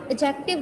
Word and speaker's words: adjective: Adjective बेटा, इसमें D silent होता है, इसको हम एडजेक्टिव बोलते हैं. डी साइलेंट होता है.